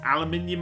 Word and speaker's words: aluminium: Aluminium alloys. Aluminium alloys. Come on, brain. You can say the word aluminium. All the Americans go, "What's aluminium?" Aluminium is the word aluminum pronounced properly.